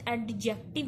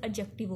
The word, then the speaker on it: adjective: First of ऑल आपने लफ्ज एडजेक्टिव नहीं बोलना, यहाँ पे आपका डी प्रोनाउंस नहीं होगा, लफ्ज एडजेक्टिव होगा।